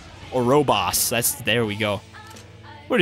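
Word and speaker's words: Ouroboros: my friend was giving me crap for not pronouncing orobos right orobos that's there we go what is this an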